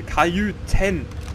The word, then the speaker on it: Kajüten: Ich verschluck immer das T. Kajüten. So spricht man das aus.